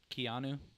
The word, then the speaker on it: Keanu: Keanu.